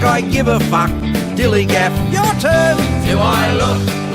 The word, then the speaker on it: DILLIGAF: That's spelled D-I-L-L-I-G-A-F, Dilligaff, and this is what it means.